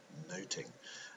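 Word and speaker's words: nothing: of the title that of noting much should do about noting as the play would have been pronounced to note is to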